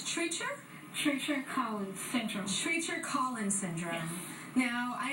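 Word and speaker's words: Treacher Collins syndrome: with me now so um give me the pronunciation it's it's Treacher Treacher cin syndrome Treacher cin syndrome now I understand that it's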